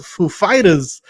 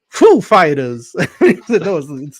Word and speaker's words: Foo Fighters: Walkin he say Hey how do you say the name of the band is it is it Fu Fighters or is it Fu Fighters yeah the empasis on the foo right oh man it